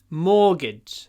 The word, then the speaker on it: mortgage: a 30e mortgage uh don't pay attention to the spelling just remember the pronunciation more or Gage morgage more orage double sound